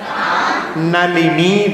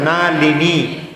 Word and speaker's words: नलिनी: तव प्रभावात् मारभ्यते तनुधियापि तव प्रभावात्, चेतो हरिष्यति सतान नलिनी दलेषु। नलिनी नहीं बोलना है, नलिनी, ली ली ली का उच्चारण, नलिनी। जल्दी जल्दी पढ़ते हैं तो नलनी हो जाता है, वो नलनी नहीं बोलना, नलिनी ऐसा।